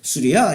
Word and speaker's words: 수리아: 이 아랍권에서는 시리아를 우리 시리아라고 말하면 안 하고 수리아 이렇게 발음을 해요.